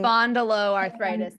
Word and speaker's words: spondyloarthritis: Those with spondylitis arthritis, if I said it right, so it's the Spondyloarthritis.